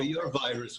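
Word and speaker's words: aveyres: Well, after Yom Kippur, your virus will be gone. Your virus. Yeah, in Yiddish, a virus means means sins, the way it's pronounced by Hasidim.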